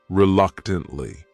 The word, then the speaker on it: reluctantly: The next word is reluctantly. This word has 4 syllables, and the stress is on that second syllable. That third syllable also has that schwa.